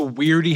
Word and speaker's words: W.E.I.R.D.E.: Welcome to Weirdy Headquarters, which stands for weaken and eradicate interdimensional enemies. It's spelled we e i r d e. Some of us call it weirdy.